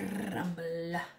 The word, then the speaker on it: Grumble: Also, we got the Grumble. But you gotta roll your R when you say it.